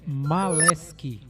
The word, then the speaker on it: Maleski: Como é que é a pronúncia correta do seu sobrenome? É Maleski.